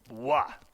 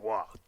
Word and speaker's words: Roy: It's spelled R-O-Y. That looks like Roy to me. What do I know? No, I know. Wah. Patrick Wah.